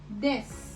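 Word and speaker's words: です: रिया रिया और हूं के लिए यूज होता है देस. इसमें जो यू है वो साइलेंट है, सो आप इसको कैसे प्रोनाउंस करेंगे, देस.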